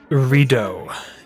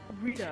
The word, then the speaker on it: Rito: Rido. Yeah. Rito. It's spelled I a was bit hearing weird, Rito, so- but it's pronounced Rido. Yeah. Similar to Rito, just with a D.